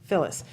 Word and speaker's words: Fillis: Fillis. Fillis.